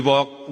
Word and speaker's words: walk: We walk the talk. Not only talk the talk, Teman-teman. Kata ini sama ini. Cara bacanya huruf A-nya diganti O terus huruf L-nya enggak usah dibaca. Walk, talk.